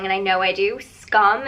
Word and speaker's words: Skam: time today's video is scam i got a comment on my last video saying that i pronounce it wrong and i know i do scum is the proper pronunciation but i feel like